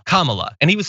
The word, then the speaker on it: Kamala: who is on said her name is pronounced comma like the punctuation mark la, Comma-la.